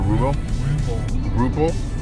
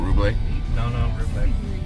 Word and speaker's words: Ruble: right pronounce that right it's rubley or rubel yeah like with the p whether there be r-u-b-l-e b-l-e it's not rubley just a regular old report all right